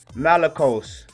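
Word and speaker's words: μαλακός: All right, you got the Greek 3120, which is pronounced malakos, which means of uncertain affinity, soft, that is, fine, clothing, figuratively a catamite, effeminate, soft.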